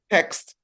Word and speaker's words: text: Why in our test does the question text text? No. Text. Text. Almost. Text. Text. There's a T at the end. You must pronounce it.